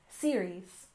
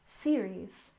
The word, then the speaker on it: series: we have series finale with a stress on the first syllable series series and finale stress the